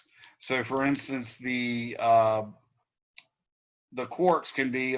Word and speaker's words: quark: which ones have three quarks and that that's pronounced quark like a qu because it's actually spelled that way and it comes from